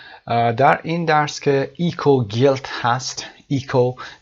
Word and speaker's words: eco: اون رو اکو تلفظ میکنیم و این کلمه رو ایکو تلفظ میکنیم.